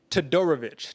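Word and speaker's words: Todorović: dusko let me get you with the right pronunciation dog i got you is it dusko todorovich todorovic there we go money throw a little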